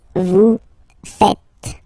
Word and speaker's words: faites: It's vous faites. Vous faites. Okay, so remember, final S here is not pronounced, and then this is not pronounced either.